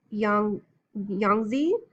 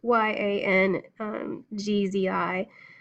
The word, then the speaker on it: Yangtze: Bounded by mountain ranges and bisected by two great rivers, the Yellow and the Yangtze. I know I'm saying it wrong. Yangzi.